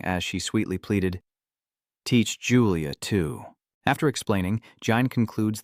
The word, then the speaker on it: Julia: "It's not Lulia, it's Julia, and I didn't mistake him for someone else."